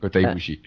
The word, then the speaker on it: Kota Ibushi: Allez voir, parce qu'il y a énormément de matchs géniaux, tous les Kota Ibushi, si je prononce bien son nom. C'est ça, Kota Ibushi.